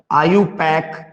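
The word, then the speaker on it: IUPAC: Find the product and right there आयुपैक। आयुपीएसी को आयुपैक भी कहते हैं, ठीक है, आयुपैक नहीं, चाहे जो बोलो यार, मतलब है स्पेलिंग से।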